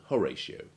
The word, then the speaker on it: Horatio: it as in section among the rare exceptions are ratio and horatio which unlike ration and oration keep their i and o sounds distinct despite having the